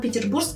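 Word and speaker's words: 상트페테르부르크: 러시아어 발음 그대로 사용 할 게 요 . 저 는 상트 페테르 부르크 주립 대학교 에 다녔는데 , 자랑 좀 하자면 4 년 장학금 을 받고 입학 했습니다 .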